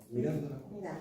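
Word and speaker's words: Mirandola: ¿Cómo lo pronunciamos en italiano? Mirándola.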